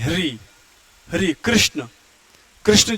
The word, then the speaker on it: कृष्ण: बोलेंगे क आर आई इसको हम कृष्ण बोलेंगे है ना कृष्ण बोलेंगे तो ये देखो यह आई है और यहां पर ए है यह अंतर है र का जो उच्चारण जो क्रम में लग रहा है वह अ है और कृष्ण में जो क्री लग रहा है वह आई है यह चीज आपको समझाने